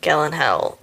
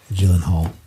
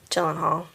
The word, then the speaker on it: Gyllenhaal: And then Jake Gellenhill became Donnie. Gyllenhaal. Gyllenhaal.